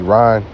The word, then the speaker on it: Iran: can be edifying in Iran or ran is the correct pronunciation of it is not